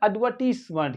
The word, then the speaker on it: advertisement: क्या पढ़ा जाएगा एम ई एनटी यहां पर पढ़ा जाएगा मं क्या पढ़ा जाएगा मं तो इसको पढ़ेंगे एड एडवर्ट मेंट एडवर्ट मट क्या पढ़ेंगे एडवर्टाइजमेंट क्या पढ़ेंगे एडवर्टाइजमेंट तो